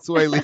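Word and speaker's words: Swae Lee: Yeah, Sway Lee, yeah.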